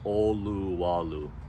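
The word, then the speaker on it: Olowalu: first towns you'll hit is oluwalu and it's pronounced oluwalu up next is one of the oldest towns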